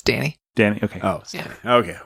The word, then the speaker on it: Dani: He mispronounced my name. Oh. It's Dani.